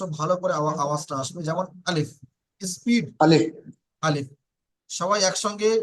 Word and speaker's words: আলিফ: যেমন আলিফ, স্পিড আলিফ, আলিফ।